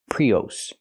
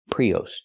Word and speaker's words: Prius: It's not pronounced Prius. Prius. Toyota Prius. It's pronounced Toyota Prius. Use the short uh sound like cup and up. Us. Us. Not o, but us.